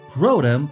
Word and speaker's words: Protum: I should also point out that the dialogue is pretty tongue-in-cheek, with characters constantly pointing out that the first city, Protum, rhymes with scrotum, and stuff like that.